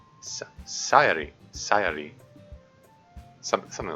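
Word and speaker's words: Sayori: is my name hmm so you have to flick your tongue against a spot where your front top teeth meet the gums are a little higher if you end up making a D sound you want too high up and hit it too hard it has to be super light and sort of sounds like halfway between l and an R if you do it right so yeah that's how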